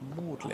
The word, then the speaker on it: Magdalen: I think it's pronounced Mlin in Oxford.